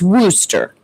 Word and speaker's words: Wooster: it's Wooster. Worcester, probably. So she said it's Wooster. It's like rooster, but with a W, because I could never say the name right.